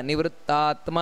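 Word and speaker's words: ನಿವೃತ್ತಾತ್ಮಾ: ದೀರ್ಘ ಇದೆ ಆವರ್ತನೋ ನಿವೃತ್ತಾತ್ಮ ಅಷ್ಟೇ ಅಲ್ಲ ನಿವೃತ್ತಾತ್ಮ ಅಂತ ದೀರ್ಘ ಬರಬೇಕು ಸಂವೃತಃ ಸಂಪ್ರಮರ್ಧನಹ ಅಹಸ ಅಹ ನೋಡಿ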